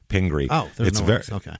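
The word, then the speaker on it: Pingree: I've been P pingre I'm sorry pingre ping uh p i n g r e e pingry it's very small just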